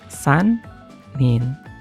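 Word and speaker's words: 三人: nomor tambah nin rumusnya ini buat jumlah orang. Oke, jadi kalau sekarang sanin gitu dan seterusnya.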